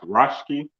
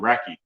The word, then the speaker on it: Rački: So it's pronounced Rački. Angelique Rački. Okay. I like that. It sounds better too. It has a better ring to it than Racky. Yep.